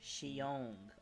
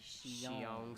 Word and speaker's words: Xiong: And then the other name is the X in Mandarin is pronounced like a soft she. It sounds like Xiong. Okay, Xiong.